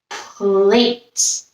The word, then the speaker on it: plate: If we add a P to late, our PL makes the pl sound. Our silent E makes the A say his name. So late becomes plate.